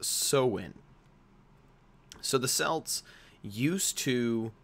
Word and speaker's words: Samhain: that looks like they word it looks like Sam Hine are Samhain sometimes the eye is in front of the a but it's actually pronounced so in so the cells used to celebrate this holiday